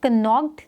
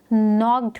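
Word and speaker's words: knocked: D door north में एन से पहले के लगा हुआ है जो की एक साइलेंट लेटर है हम इसको प्रोनाउंस करते वक्त कन्नौक्ड नहीं पढ़ेंगे हम इसको नॉक्ड पढ़ रहे हैं ओके हम इसको एन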